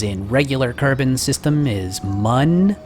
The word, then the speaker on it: Mun: regular carbon system is mun if you were to spell that like this you would actually call that mune but since it isn't spelled like that we can call it mun hope that clears it